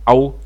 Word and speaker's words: ào: se être prononcé, c'estàdire comme dans hôpital, comme dans repos. Donc AO alors AO qu'est-ce que ça signifie ?